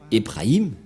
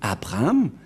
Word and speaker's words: Abraham: le Dieu d'Abraham mais pour eux c'est plus Ebrahim mais Elia vous dit que c'est Abraham car on l'a retrouvé premièrement dans le livre juif les Juifs ont prononcé Abraham c'est-à-dire que le Dieu